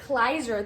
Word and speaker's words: Kleiser: So Tuesday I reviewed Grease, and the director, I always forget how to pronounce his name, Randall Kleiser. Kleiser, thank you, Randall Kleiser.